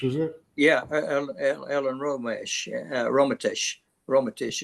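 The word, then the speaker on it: Rometsch: And Romesh? Go ahead. What? Ellen Romesh, was it? Yeah, Ellen Romesh. Romatish is the way you pronounce it.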